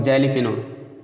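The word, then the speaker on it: jalapeño: और एक जैलीपिनो, ठीक है, तो जैलीपिनो आप पढ़ेंगे, लेकिन जेली नहीं लिखा जाता, ठीक है, एलिपिनो इसको पढ़ते हैं। जे साइलेंट रहेगा ऐसे पढ़ना शुरू करिए।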